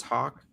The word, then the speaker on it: Hawk: a a former Elder that sounds pronounced as Hawk that's what I've heard um he